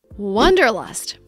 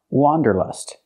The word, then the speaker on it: wanderlust: just a few years the word is not pronounced wonderlust it's pronounced Wanderlust let's look at the difference the correct pronunciation of this word has the sound a like hot and stop it's an open Sound W Wanderlust for the first vowel for the first syllable use the open a sound like hot and